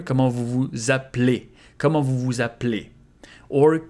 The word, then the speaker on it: Comment vous vous appelez: And here also you can devocalize this E here. Comment vous vous appelez?